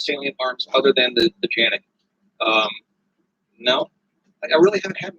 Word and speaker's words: Canik: I called it a Canik. Like, no, it's a Janik.